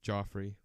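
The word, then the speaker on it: Geoffrey: Yeah, but I mean Joffrey. Joffrey. So this guy gets signed last minute. His name's Jeffrey, but it's spelled G-E-O-F. No, it's not. It's not said Jeffrey. It's Joffrey. That's his name.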